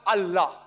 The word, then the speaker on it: Allah: god almighty is allah they write to that i ela but when you pronounce it we have to tell them pronounce it as allah salaam alaikum my